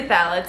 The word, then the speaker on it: phthalates: are all valid free i always have a hard time with that word because i always want to pronounce the ph in it but there it you have to ignore it so they're free phthalates